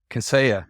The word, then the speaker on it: Kaseya: Kaseya, yes.